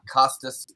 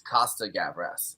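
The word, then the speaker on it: Costa-Gavras: make a little correction it's not uh it's not Costas or gavras it's Costa gabras uh it's not plural I messed that up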